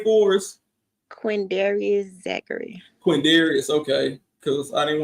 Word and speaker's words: Quindarius Zachary: So you're Lil D's sister, and do you mind pronouncing his legal name for us? QUINDARIUS Zachary.